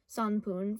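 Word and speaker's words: 三分: However, when paired with different kanji for numbers, it's pronounced ippun, nifun, sanpun for 1 minute, 2 minute, 3 minute. And if you notice, it changes depending on what number it is, and as any person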